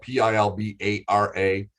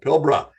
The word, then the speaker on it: Pilbara: a quick little tip whenever you see it it's spelled p-i-l-b-a-r-a but it is not pilbara that'll drive our aussie friends crazy it's pronounced pilbra all right there's your tip of the day